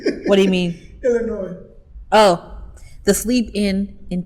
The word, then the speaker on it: Illinois: I think the S is silent. What do you mean? Illinois.